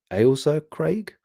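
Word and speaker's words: Ailsa Craig: guys are saying um if you mean Eliza Craig is pronounced Al alsa Craig alser Craig again I'm just I'm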